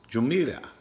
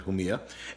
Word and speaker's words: Jumilla: east in Spain called Jamila who Mia now Oh Mia who like you know the J is pronounced in Spanish who Mia and they're famous for